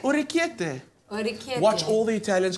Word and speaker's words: orecchiette: So what I need you guys to do for me, you're gonna roll some orecchiette, Oh, okay.